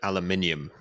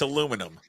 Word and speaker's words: aluminium: you guys do finding a way to correctly pronounce the word aluminium how do you say it's aluminum it is in America say say how do